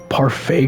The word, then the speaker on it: parfait: mying parfet parfet spell I think that's a parfait but it's spelled parfett parfait girls it's a series